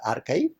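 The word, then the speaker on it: arXiv: archive it is spelled as a rxiv but pronounced as archive that was started in 1991 by Paul jinpark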